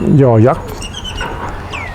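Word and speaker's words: ย ยักษ์: would say Y sound, the Thais pronounce it yo yak.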